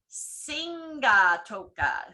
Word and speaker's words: Sigatoka: You put an M before the B in words like Toburia, Tomburia, Sigatoka, Singatoka, Nagani, Ningnagani, and a